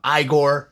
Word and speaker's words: Igor: you got a sculptor named Igor but he pronounces his name Igor he's got a wax museum it's in it's